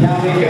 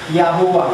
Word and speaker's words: Yahuwah: preponderantly given evidence that it is neither pronounced as Yahweh or Jehovah. So it is, the tetragrammaton there is Yahuwah.